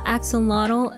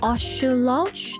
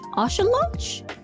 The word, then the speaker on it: axolotl: uh okay caged bird did you know axon model is actually pronounced ashu lodge osha lodge i recently learned this it's pretty funny how we've been getting it wrong for years osha losh osha lodge